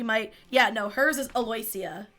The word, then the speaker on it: Aloysia: that at the beginning a-l-o-y-s-i-a so my head read that but hers is actually pronounced more phonetically aloysia aloysia um Neri is